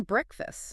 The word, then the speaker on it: breakfast: do not pronounce it breakfast. All right. The first part sounds like bre and the second part sounds like bust.